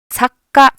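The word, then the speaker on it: さっか: 키역 발음을 실제로 크라고 발음하는 것이 아니라 잠깐 목구멍을 닫아두는 거예요. 그래서 사, 카, 사으까 이런 식으로 가는 거예요. 사까, 사까 이게 발음입니다.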